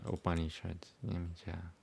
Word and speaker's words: Upanishad: Upanishads. Upanishad, not Shad. Sha is spelled differently in Sanskrit.